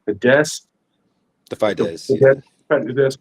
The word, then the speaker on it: Fidesz: It's crazy because, like, okay, like many politicians, when he was younger, he actually founded, I think it's pronounced Fidesz, The the Fidesz, yeah.